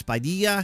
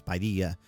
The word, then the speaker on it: Padilla: it the way it's Padilla. That's the way it's pronounced in Spanish.